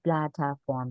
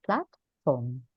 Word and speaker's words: platform: speak a multiple times maybe the pronunciation in platform which is a typical mistake to say Plata form but we say platform platforms a case and